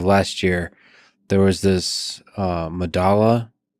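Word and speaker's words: Medellín: I believe it's pronounced Medasha. It's a South American subway station. I forget where. But spelled with two L's. Yeah, because that's that's how Spanish works, right? Like the two L's have Medasha.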